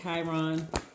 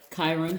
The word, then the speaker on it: Chiron: to be talking about the planet chiron or chiron however you want to pronounce it but it is